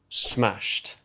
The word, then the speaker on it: smashed: The third word smashed. T- smashed. It's a t- sound at the end. And that follows the same pattern as words like wished, washed, walked, and talked.